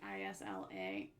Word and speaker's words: Isla: Gosh, I can't pronounce that like reading it. It's like Isla.